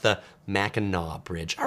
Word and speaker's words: Mackinac: world uh says one tip about the uh Mackinac Bridge as I pronounce this is actually pronounced the Mackinaw Bridge all right thank you for that I